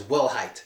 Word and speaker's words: Wilhite: Creator is um it's that name is well height so first name Steve that's easy to spell but we'll height w IL h ite crazy right that's insane